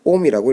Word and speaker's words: 옴: 그리스어로는 오메가이고 우리 물리에서는 전기저항 읽는 법은 옴이라고 읽습니다.